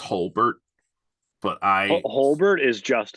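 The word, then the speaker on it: Jolbert: and yet I realize I'm pretty sure it's pronounced Holbert but I Holbert is just as funny I thought it was joelbert when I was a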